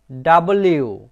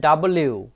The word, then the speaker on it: W: এল, এম, এন, ও, পি, কিউ, আর, এইচ, টি, ইউ, ভি, ডাব্লিউ। বন্ধুরা, আমরা সাধারণত পড়ে থাকি ডাব্লু, ডাব্লু হবে না, হবে ডাব্লিউ।